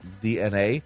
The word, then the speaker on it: DeNA: Nintendo has informed investors that they have partnered with DNA, okay, it's spelled Dena, like Dina or Dena, but it's actually DNA, to form a new subsidiary, sorry about that, in April of 2023 called Nintendo Systems.